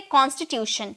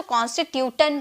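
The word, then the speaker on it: constitution: यह आपको टी आई ओ एन दिख रहा है ना तो बहुत लोग इसे बहुत लोग इसे टन में प्रोनाउंस करते हैं क्योंकि ट का साउंड ट में टी का साउंड ट में निकलता है ना तो कॉन्स्टिट्यूटन कहते हैं। लेकिन ऐसी कोई बात नहीं है। इसे हम प्रोनाउंस करेंगे शन में।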